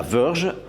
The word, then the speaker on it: Verge: La Verge, attention à bien prononcer en anglais, version TS Pro est la première moto équipée d'une batterie à électrolyte solide.